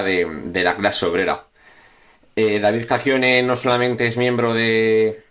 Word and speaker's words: Cacchione: David Cacchione, se pronuncia, ¿verdad? No, si lo pronuncio mal me dices. Sí, por favor, David ¿vale? Cacchione.